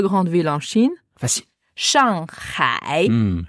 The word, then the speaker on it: Shanghai: vas Shangai Shangai ouais souvent j'entends les Français qui prononcent Shangai norm parce que la transcription phonétique c'est il y a un G ouais c'est S a N G et H a I en chinois h c'est donc